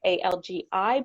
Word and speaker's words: Algi: That's ALGI, but pronounced Algi.